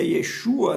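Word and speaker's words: Yeshua: de salvação tanto que o nome de jesus quebrar que se pronuncia e chuva né significa o senhor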